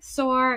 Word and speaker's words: Soare: Soare is how you say your last name.